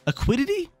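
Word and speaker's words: Lake Acuity: Aquidity? Yeah, that's how you pronounce it.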